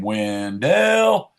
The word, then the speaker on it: Wendell: So the train used to come through, and the conductor had to enunciate one of the syllables, so it became Wendell when they were coming through. And we went from being a town named after Oliver Wendell Holmes to just being Wendell.